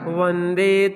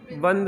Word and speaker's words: विंद: देविंद बंद नहीं, विंद है।